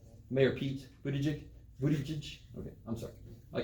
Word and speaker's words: Buttigieg: Buttigieg. Mayor Pete Buttigieg.